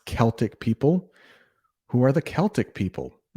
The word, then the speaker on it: Celtic: It's pronounced Celtic people.